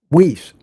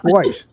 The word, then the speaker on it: Weiss: heard the name before Whis because that's how you pronounce it in English. But in in in German or Yiddish pronounced Vice and it's pronounced actually the W is a V.